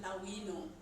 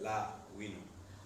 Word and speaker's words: La'wino: you pronounce my name there's an apostrophe here so he's supposed to add a delay to its la winning okay so mr lawyer